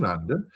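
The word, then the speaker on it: Sarandon: Starring Tim Curry Susan Sandon rhymes with abandon. She said that herself or Richard O'Brien Barry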